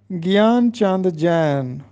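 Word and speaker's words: گیان چند جین: گیان چاند جین ہم پڑھتے ہیں، جبکہ درست تلفظ ہے گیان چاند جین۔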